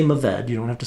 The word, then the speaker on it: Mourvèdre: Well, that's Mourvèdre. You've had it before because if you've liked GSMs, that's the M in the GSM. It's Grenache, Syrah, Mourvèdre. And you can say Mourvèdre.